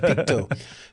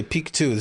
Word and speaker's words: Peakto: Picto, you can say Pik 2.